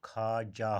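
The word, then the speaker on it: خواجہ: तो ख्वाजा आम तौर पर हम पढ़ते हैं ख्वाजा, लेकिन इसका जो तलफ़ुज़ होता है, प्रोनाउंसिएशन होता है वो खाजा होता है।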